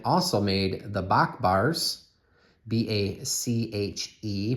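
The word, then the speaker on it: Bache: The back side of this bar may look familiar to you because the Pioneer Mint also made the Bach bars, B-A-C-H-E, pronounced Bach.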